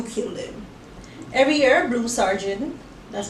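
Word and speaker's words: Sargent: Every year, Blue Sergeant, that's how you pronounce that word, stands next to her clairvoyant mother as the soon-to-be dead walk past.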